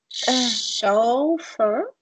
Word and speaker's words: chauffeur: Chauffeur. Yeah, it's this word here, starting with sh, chauffeur.